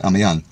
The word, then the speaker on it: Amiens: it's French so it's spelled are me are pronounced I'm young Williams tribute to the fallen they laugh have